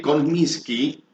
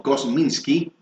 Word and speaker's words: Kosminski: El autor del libro, que publica el próximo martes la editorial Smith Jackson, ha establecido la autoría de Kominski, o bien pronunciado como Kosminski, tras hacer analizar un